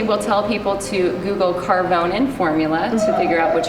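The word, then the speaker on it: Karvonen: on the screen carbon I call it caronian cuz that's how it's spelled no there's no I in it there's it's like a e a n it's carbonin as I just spelled it okay all right so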